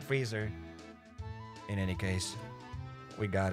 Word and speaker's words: Fraser: The same thing as Brandon Fraser. Not Fraser, but Freezer.